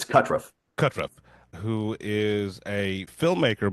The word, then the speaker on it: Kutruff: I am joined here today by a very very special guest uh Kurtriff. Uh am I pronouncing that correctly? It's Katruff.